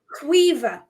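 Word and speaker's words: Caoimhe: NE yes that will be yes that's right qua that is spelled c a o i m h e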